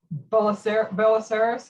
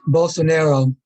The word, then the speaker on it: Bolsonaro: the media broadcast but uh about uh brazil bola bella saris is that how you say his name i don't i don't know if i'm saying his name correctly but how well bolsonaro thank you thank you i get him confused